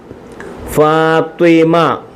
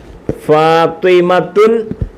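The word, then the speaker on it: فاطمة: ആഈഷ ആഇഷ ആയിഷ ആയിഷ ഫാത്തിമത്തു ഫാത്തിമത്തു ഫാത്തിമ ഫാത്തിമത്തു എന്ന് പറയത്തില്ല പറയത്തില്ല ഫാത്തിമ ഫാത്തിമ ഫാത്തിമ ഫാത്തിമ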